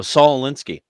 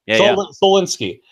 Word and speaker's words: Saul Alinsky: Oh, Saul Alinsky. Solinsky. Saul Alinsky. I want to pronounce that correctly.